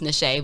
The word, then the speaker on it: Niche: That's niche, but with a little finesse on it, so it's pronounced Nache, but it looks like niche.